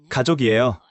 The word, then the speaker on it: 가족: 족이라고 읽어요. 족. 맞아요. 가족이에요. 가족.